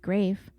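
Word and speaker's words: Graeff: early 2000s Sherry under her maiden name Sherry grafe which is spelled g r a e FF was writing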